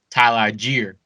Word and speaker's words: Tyler Allgeier: We have the rookie Tyler Allgeier, and yes, that's how you say it, motherfuckers.